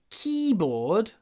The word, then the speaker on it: keyboard: I have a wireless keyboard for my iPad. Ударение на первом. Вот здесь у нас два слова. Key и board. Ударение на первом. Keyboard. Keyboard. И board мы произносим полуголосом.